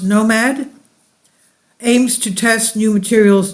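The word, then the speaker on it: NOM4D: to smallscale orbital demonstrations Nom 4D pronounced Nomad aims to test new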